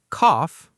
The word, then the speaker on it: cough: Cough, pronounced like off.